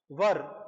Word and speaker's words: were: इसको where नहीं pronounce करते, कुछ स्टूडेंट्स इसको where पढ़ते हैं, where is wrong, वर इसका प्रोनाउंसिएशन होता है वर, और इसको was, इसको क्या रीड आउट करते हैं was, राइट।